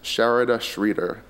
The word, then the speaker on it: Sharada Sridhar: I fondly refer to her as Tamillionaire, but now I will pronounce her name as Sharada Sridhar.